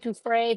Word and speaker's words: Giuffre: Giuffre, Virginia Giuffre, the woman who allegedly died by suicide after the Trump, Jeffrey Epstein's files.